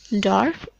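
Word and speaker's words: dwarf: इसमें डब्ल्यू इज a silent. इसको आप पढ़ेंगे डॉर्फ.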